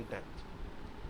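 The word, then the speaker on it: debt: वो कहलाती है ऑक्सीजन डेथ। ठीक है, ध्यान में रखिएगा, बी साइलेंट होता है, डेथ परसेंट ध्यान में रखिएगा।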